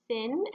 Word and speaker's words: syn: let's start things off with our vocabulary first of all we have our prefix focus sin this is pronounced sin s-y-n sin and it means with